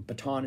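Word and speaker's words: Bittan: And this was essentially a three-piece band, but like Roy Bataan from, Bataan is how you say his name, from the E Street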